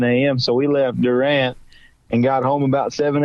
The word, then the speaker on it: Durant: casino the next night in Durant or do rent as the locals say and and it was